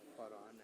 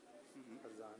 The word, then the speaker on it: Farhan: ये फरहान है. फरजान नहीं है. आप गलती से फरजान पढ़ गए.